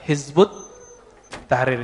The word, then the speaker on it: Hizbut Tahrir: ya dalam bahasa Arab Kalau ditulis versi transpirasinya Hizib at-tahrir Ya tapi kalau dibaca Hizbut Tahrir cara bacanya begitu nulisnya kalau di tesis